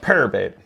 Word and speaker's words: PowerBait: But we went ahead and we got some power bait. It's max scent flukes. It's pronounced purr bait. Purr bait, max scent.